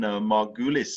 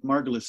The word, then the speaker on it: Margulis: Lynn Margulis is the way I pronounce her name, I think.